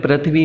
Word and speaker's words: पृथ्वी: जैसे गौ, गाय, स्वर्ग, पृथ्वी। यहाँ ज़्यादातर उच्चारण गलत करते हैं, पृथ्वी बोलते हैं, पृथ्वी नहीं होता, ये री की मात्रा, रे नहीं है, री की मात्रा है, इसको हम बोलते हैं